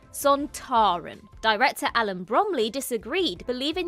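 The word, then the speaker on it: Sontaran: and actor Kevin Lindsay decided that it should be pronounced with the emphasis on the tar son Taran director Alan Bromley disagreed believing that it should be announced sonteren Lindsay responded well I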